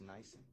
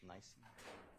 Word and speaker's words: NIBIN: I'll put this in writing just for ease, but on it's pronounced nice. The firearms, nice.